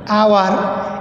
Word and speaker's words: hour: HOUR আওয়ার, এটা হাওয়ার না।